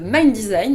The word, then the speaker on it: MNDSGN: Ringgo Ancheta, better know under his alias MNDSGN pronounced "mind design" no not MNDSGN !